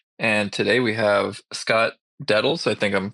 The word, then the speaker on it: Dedels: And today we have Scott Dedels. I think I'm pronouncing that correctly. Correct me if I'm wrong. It's As Dedels. our, it's Dedels? Dedels.